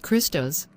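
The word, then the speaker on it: Χριστός: Pronounced Christos.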